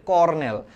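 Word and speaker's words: colonel: ঠিক আছে রাউটার বানান ঠিক আছে এটা হচ্ছে কর্নেল কর্নেল বানানটা একটু দেখো কর্নেলের সঠিক বানান হচ্ছে কলোনেল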